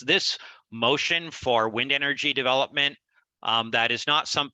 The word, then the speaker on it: MOCEAN: why we call ourselves motion so it's because our mission is the ocean and so we very much like the particular term because it's pronounced like the word uh motion and of course an